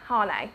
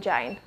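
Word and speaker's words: Jané: I'm sure, is that how you pronounce it? Hane, rather than Jane?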